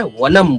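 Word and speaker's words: वनम्: हम वनम बोलते हैं। हम विद्या बोलते हैं। मगर कभी भी वनम नहीं बोलना है। वनम बोलना है। विद्या बोलना है। यह सही उच्चारण होता है।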